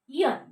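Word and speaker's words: aisle: i s l e here s is silent so you have to pronounce it i r i t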